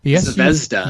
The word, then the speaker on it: Zvezda: This one I don't remember if we talked about from, I can never pronounce the name, the Russian Zvezda. Oh, Zvezda.